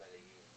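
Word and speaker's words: Medellín: By the way, how do you pronounce it? Medellin or Medellin? Both are fine. I think that there they've done kind of the accent and the double L. But Medellin is clearly fine.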